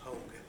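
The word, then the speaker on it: Haug: The first name is, S-C-O-T, and the last name is H-A-U-G, pronounced Hogue.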